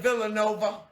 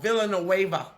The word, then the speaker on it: Villanueva: Villanova. Alejandro. Villanueva. I said it wrong. Villanueva.